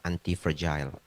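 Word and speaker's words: antifragile: Pronounce-nya yang benar adalah anti-fragile.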